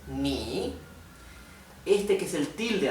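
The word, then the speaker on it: 你: Por lo tanto, este, que tiene como un techito dado vuelta, invertido, es ni.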